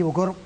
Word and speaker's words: bokor: Miguel, ¿qué es a ver si lo pronuncio bien, Oungan y un Bokor? Ungam y Bokor.